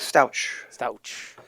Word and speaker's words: Stouch: today's show we have stouch did i pronounce that right that's correct stouch there you go he's a nailed member he's